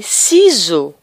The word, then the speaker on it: ciseaux: Ou bien encore, on peut trouver S qui se prononce Z. Z. Exemple, les ciseaux. Les ciseaux. un vase, un vase.